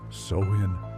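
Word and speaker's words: Samhain: To the Kelts, it was the night of Samhine, pronounced soin.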